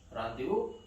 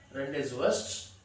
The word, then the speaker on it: rendezvous: Rendezvous means meeting place. Of course, the word is not given here. This word is not pronounced rendezvous. It's rendezvous, a French word.